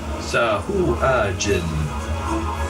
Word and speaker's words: Sahuagin: I think it's Sahooligans. Just how it's spelled. Wait, I have an idea. You're way up there. Yeah. Sahuagin.